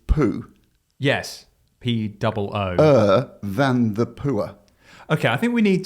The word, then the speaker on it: Poer: It has created a pickup that is, the name of it is spelled POER. Obviously, with our accents, we would go poor. Yeah, it's poor. But some people might go, oh, it sounds like power, but it doesn't. No, it doesn't.